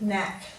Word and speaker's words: knack: So let's read the words knoll, knave, knack, need, knapsack. So quite often we could also use a G for a silent letter before an N.